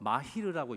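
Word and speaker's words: מהיר: 오늘 그 잠언 22장에 나왔던 자기의 일에 능숙한 자를 보았느냐 할 때의 그 능숙함은 히브리어로 마히르라고 읽습니다.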